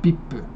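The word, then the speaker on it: ビップ: Or in Japanese, it would be pronounced more like bippu, like that, because the V is not in Japanese, it's a B instead.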